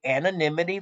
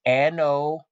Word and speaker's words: anonymity: And I know a lot of people can't pronounce that word, so it's anonymity, anonymity, ladies and gentlemen. A lot of people have a problem with that word, But they actually not